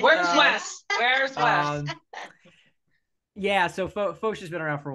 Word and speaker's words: Foch: Marisol Foch.